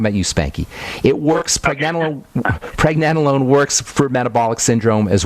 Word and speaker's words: pregnenolone: Preg, as in pregnancy. Preg, nen. Like Ben, except nen, pregnen, and then alone.